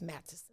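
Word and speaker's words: Matteson: show appreciated 4129 to 11th street matterson and i told you i was pronounced matches didn't i tell y'all that it's matches and now it's not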